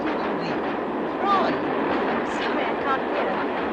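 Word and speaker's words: Froy: Roy. Sorry, I can't hear. It rhymes with joy.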